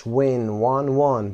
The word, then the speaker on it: won: won تلفظش won برنده شدن پول هست.